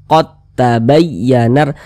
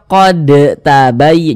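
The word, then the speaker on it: قد تبين: dia ke huruf ta kita baca qod qod tabayyanar Jangan dibaca qod tabay jangan jangan huruf dalnya dia ada tapi ketika kita membacanya itu dianggap tidak ada karena dia langsung masuk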